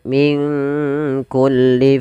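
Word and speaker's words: من كل: Kemudian min kulli fakihatin zawjan, nun mati ketemu kaf. Di sini kita namakan dengan bacaan ikhfa. Maka cara membacanya, samarkan nunnya kepada huruf kaf, minku langsung kepada makhraj huruf kaf. Min kulli fakihah.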